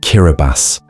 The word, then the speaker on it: Kiribati: It's pronounced Kiraabas and it sits in the middle of the Pacific Ocean, scattered across an impossible distance of open water.